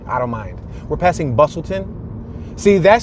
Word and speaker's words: Bustleton: don't mind we're passing Bustleton see that says but well it's it's written Bustleton bustle but you don't say the T to T silent so Bustleton we're passing Levick Street